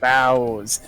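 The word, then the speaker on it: boughs: you so bowels yep even though it's prone uh spelled like uh boofs or something because b-o-u-g-h yeah freaking english is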